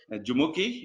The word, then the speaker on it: Jumoke: Nigeria juki I have I thought I will pronounce a full name huki this is okay and uh we call her juki is that correct that's correct absolutely exactly so